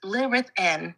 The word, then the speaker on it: Lythan: Though your mind senses the syllables, our true harmonic name is Lythan, pronounced Lithn.